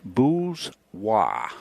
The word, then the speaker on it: Bourgeois: Somebody said, Bourgeois is how you say that.